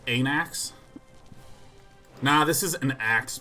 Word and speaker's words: Anax: It is certainly pronounced Anax.